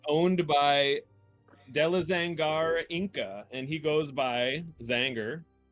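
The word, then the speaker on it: Inka: and it was owned by de la zangara inca and he goes by zanger and he is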